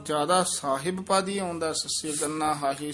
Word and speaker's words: ਸਾਹਿਬ: ज्यादा साहिब पादी आउंदा सस्सी गन्ना हाही सियारी बब्बा। साहिब इथे साहब है ध्यान नाल उच्चारण करना। ससे कन्ना हाहा बब्बा औंकड़ साहब बोलना साहिब नहीं कहना है।